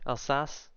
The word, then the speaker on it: Alsace: how soon until stuff's done alsas is that all sauce is that how you pronounce her or that name that is us okay Alsace this one I always remember screwing up that's